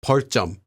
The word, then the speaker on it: 벌점: Note that 벌점 is pronounced as 벌점.